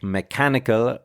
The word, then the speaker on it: mechanical: These can be tricky because, for example, with mechanical, we stress the second syllable, but with mechanism, we stress the first.